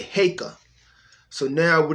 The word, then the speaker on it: Heka: a is in apple so e is in cake and uh uh a is an apple so we're gonna say heyka so now we're not